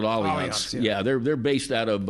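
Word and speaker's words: Allianz: one every i mean it's spelled like alliance but for whatever reason they call it all events yeah they're based out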